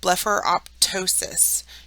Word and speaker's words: blepharoptosis: have a t sound if the PT is within a term you're going to pronounce the P then the t as in blepharoptosis you have your P